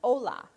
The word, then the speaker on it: hola: It looks like hola, though, doesn't it? Yep. It's, yeah, the H is silent. Hola.